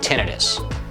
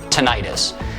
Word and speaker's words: tinnitus: going to talk about tinnitus or tinnitus the pronunciation really depends on where you're from if you think it